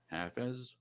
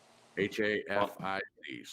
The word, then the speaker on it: Hafiz: How do you pronounce that, Glenn? Hafez? Hafiz.